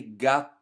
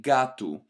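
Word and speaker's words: gato: words finish with an O when we actually pronounce them in our dayto day we don't say Gat but we say gatu and in future lessons when we go deeper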